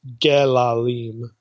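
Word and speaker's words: גְּלָלִים: that well maybe maybe Ezekiel is taking a term for feces which would normally be tr be uh pronounced galim and again takes that and alters it to gillulim maybe again taking the the vowels from the word for abominations the shikutene the things that are detestable in Leviticus and and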